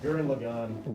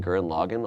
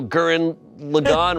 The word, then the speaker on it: Gurren Lagann: - Gurren Lagann. - Gurren Lagann. - Is that how you pronounce it? I've been saying Gurren Loggin all my life.